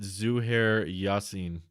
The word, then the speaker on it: Zuhair Yasin: You pronounce it Zuhair Yasin. I like how you say to pronounce it the way it's spelt.